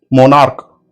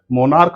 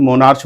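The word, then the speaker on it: monarch: जैसे मोनार्क यहां पर एंड में सी एच आर लेकिन इसका उच्चारण सी एच का जो उच्चारण है च ना हो के क हो रहा है। मोनार्क बोल रहे हैं हम ना कि मोनार्च बोल रहे हैं।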